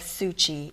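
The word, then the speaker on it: Tzu Chi: much is enough so i'm really proud of suchi it's spelled t-z-u c-h-i and it's free medical it's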